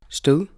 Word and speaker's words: stød: The soft D, or blødt D, as in the final sound of the word Stød. Now you've heard how it's supposed to be pronounced, let's take a closer look at this